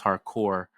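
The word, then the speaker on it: Harcourt: I love that her last name is Hardcore without pronouncing the T at the end there.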